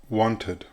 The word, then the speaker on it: wanted: In fact, it's the sound that Spanish speakers try to make with other verbs in the other categories, which is incorrect. Therefore, the correct pronunciations are now wanted, demanded, needed, hated, invited, decided, started.